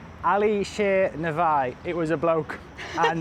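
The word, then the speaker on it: Alisher Navoi: It's called the Alicia Navoy Theater.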